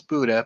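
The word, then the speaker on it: Buda: and someone correct me is it buddha or butter i'm not 100 sure i think it's buddha but just want to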